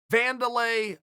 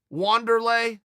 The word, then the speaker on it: Wanderlei: we were going through the van delay versus wander lay I still don't know the answer to that I I think it's spelled with a W but I think he calls himself Wanderlei look I'm happy to